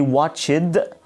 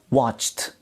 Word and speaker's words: watched: have here okay when you say watched we don't say watch it watched watched the ad is